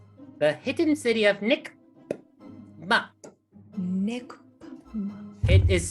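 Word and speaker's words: Nikp-Mup: your question um babs uh the the the pronunciation is nick the hidden city of nick it is spelled in the in the english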